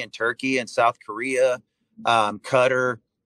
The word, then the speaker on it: Qatar: Turkey and South Korea, Qatar, or Qatar. I don't know how you say it. I know it's Cutter.